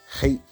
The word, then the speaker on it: Chet: Hate. It says hates there, but it's a hate. CHET would be the correct transliteration according to how you pronounce it.